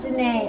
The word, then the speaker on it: Janae: And she said, also, if you don't know how to pronounce my name, it's kind of like Janae, which I figured that's what it was.